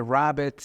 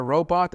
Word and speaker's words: robot: And then a work like a rabbit instead of work like a robot.